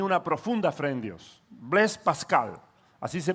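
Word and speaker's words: Blaise Pascal: dios y tenía una profunda fe en dios blas pascal así se pronuncia su nombre y él dijo varias frases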